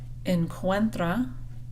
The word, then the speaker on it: Encuentra: Encuentra. We're pronouncing all the vowels, so make sure you have UE.